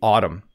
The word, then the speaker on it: autumn: tricky for english learners you can just ignore the n at the end of the word don't try to pronounce the m and n together it's simply autumn okay that is exactly